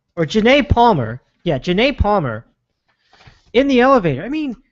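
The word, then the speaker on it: Janay Palmer: Showing Rice throwing a haymaker at her fiancé-to-be, and let me see if I can pronounce his name correctly. It is Janice Palmer, or Janae Palmer. Yeah, Janae Palmer in the elevator.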